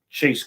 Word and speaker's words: chaste: Chastity is spelled all. That's what an I. That's what an I on the end of it. So listen to what I'm telling you. That's chaste. It's chaste conversation. Okay.